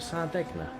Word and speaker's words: Sardegna: And then Sunday evening we have the start of season 4 of our GT7 League, where we are at, I think pronounce it Sardegna, the road track round there, in the new GR2 Audis.